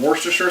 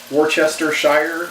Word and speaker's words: Worcestershire: a quarter cup of Worcestershire sauce Worchester Shire if you'd like to pronounce all the syllables wrong anyway then you also need